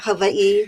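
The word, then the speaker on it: Hawaiʻi: Don't ask me why I've spent almost 40 years here, but I often say that Hawaii, which again is the correct pronunciation, you pronounce every single letter.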